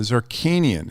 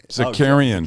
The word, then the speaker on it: Zakarian: The Zarkanian. How do you pronounce that guy's name, Matt? Zarkanian. Yeah. Zakarian.